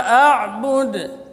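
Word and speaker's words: أعبد: Ini qalqalah sughra, qalqalah kubra. A'bud, ya. Jadi kalau waqaf itu di situ qalqalah, karena dal huruf qalqalah.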